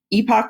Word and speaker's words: epoch: have entered a new Epoch or epic depending on how you say it of geology and we